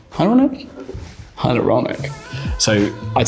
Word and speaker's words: hyaluronic: me about six months to learn how to pronounce it and now i've got it i just keep saying it to everyone hyaluronic ironic hyaluronic so i'd say that first followed by my